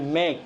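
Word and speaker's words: make: উচ্চারণটা মেক নয়, মেক, মইকার হর্ষই খ, মেক।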